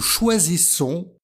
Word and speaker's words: choisissons: voyelles nous choisissons donc double S se prononce toujours s donc c'est important de